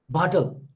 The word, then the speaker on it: bottle: In English generally, and this the pronunciation is so when you say bottle, bottle, so in between double T is pronounced like this: bottle, bottle.